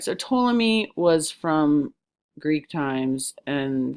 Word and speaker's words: Ptolemy: start with someone named Ptolemy. The P is silent. All right, so Ptolemy was from Greek times, and this knowledge was really old. So Ptolemy promoted the idea that the universe was like an onion.